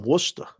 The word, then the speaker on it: Worcester: she's a woman from Worcester Worcester what's up I do not I do not know anyone by that nickname she spelled it like it's pronounced yeah sta yeah Worcester that's that's fanatically perfect that's great I actually